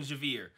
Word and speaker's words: Xavier: at beginning episode five we see Xavier Javier it's spelled Xavier in the subtitles with an X that's why it's hard for me to remember they call him Javier but uh we see